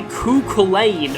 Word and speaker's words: Cúchulainn: star sign of scorpio this is kuhlen or actually kukulen according to um the japanese katakana pronunciation the impure this thing